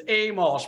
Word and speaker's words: Amolsch: It's Amolsch, but that was very close.